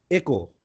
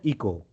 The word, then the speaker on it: Echo: ई फॉर एको, नॉट इको, ठीक है।